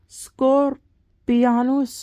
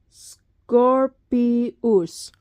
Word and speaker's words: Scorpius: Scorpion is Scorpianus or something like that. Scorpius. Teacher wouldn't let me have that because I said an N in there.